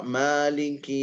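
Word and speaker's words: مالك: Wa kana yaqra maliki yaumiddin, beliau membacanya mali dengan alif, ma ada madnya di situ. Karena ada qiraat yang lain tanpa mad.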